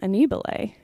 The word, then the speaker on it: Annibale: we ate in the Italian restaurant and they pronounced our name Annie ballet and I thought what did you know what